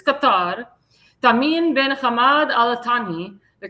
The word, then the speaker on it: Qatar: That's how that's how the Arabs pronounce it. It's Qatar.